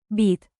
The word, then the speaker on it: být: Remember the long Y in. být, Stretch it like dramatic theater while sipping coffee very, very seriously.